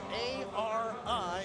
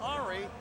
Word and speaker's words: Ari: first name is spelled a r i and he said it's not ahri gotta make sure you punch the ari so we'll get that